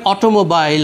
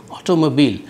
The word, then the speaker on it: অটোমোবাইল: Engine হ্যা বা ধরেন অটোমোবাইল আমরা বলি খুব সহজেই কিন্তু সঠিক উচ্চারণটা হচ্ছে অটোমোবিল।